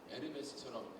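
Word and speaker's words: Hermès: 지금도 에르메스처럼 H 발음 안 되죠.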